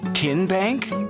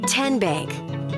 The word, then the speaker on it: Tenbank: How do you say the name Ken Bank? Nope. Tin Bank? Uh-uh. So, what is it? Tenbank. 10 as in Tennessee.